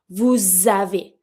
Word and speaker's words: vous avez: Consonant, vowel, I link. Vous avez. And because it's a S sound, I'm going to pronounce it and link it with a Z sound, not a S sound.